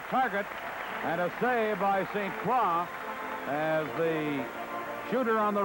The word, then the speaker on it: St. Croix: By the way, St. Croix, here in Philadelphia, they sometimes pronounce his name St. Croix. The correct French pronunciation is St. Croix.